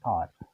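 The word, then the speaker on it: hour: तो आवर जैसे हम जानते हैं कि ये एच जो कैपिटल जो हमारा एच होता है वो इंग्लिश के हिसाब से कॉन्सोनेंट है, लेकिन जब हम इसका प्रोनाउंसिएशन करते हैं, उच्चारण करते हैं, साउंड निकलता है तो वो हमारा आ निकलता है।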